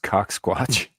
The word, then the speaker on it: CaucSquatch: I love that it's pronounced CaucSquatch.